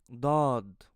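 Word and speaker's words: ض: The tip of your tongue should be behind your upper teeth, and then you have to push forward. Then your mouth should be open a little bit. Make sure when you pronounce this letter to make your lips are round, so you can also produce deep and rich sound.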